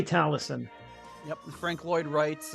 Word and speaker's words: Taliesin: in like the book of talisum but it's pronounced Taliesin still no book of Talus and sad face Nate and yeah this is the the hillside Hillside homeschool theater at Allison Spring Green Wisconsin we'll say talison yep the Frank Lloyd writes uh home and